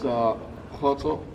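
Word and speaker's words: Kgotso: My name is Khoto. Khoto is spelled K-G-O-T-S-O. It is a Sotho Setswana name.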